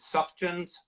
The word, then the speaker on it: Sufjan: You know, I think that was also the, it's, how do you pronounce his name? Is Sufjan? Sufjan Stevens.